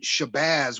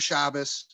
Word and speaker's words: Shabbos: And I kept saying Shabazz with a long A and Z. But when I went back and looked at it, I was wrong. He's saying Shomer Shabbos, and Shabbat is the